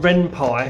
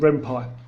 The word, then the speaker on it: Ren'Py: But anyway, my first game was made on Ren'Py, very simple software called Ren'Py. Free software too. Takes a bit of learning, but not too much. It's quite simple to learn. Ren'Py, this free downloadable software.